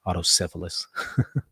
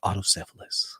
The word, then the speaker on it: autocephalous: me on my pronunciation i've been say auto syphilis um i've heard it pronounced both ways but i i i do think people have more of a preference for auto cephalus so there you go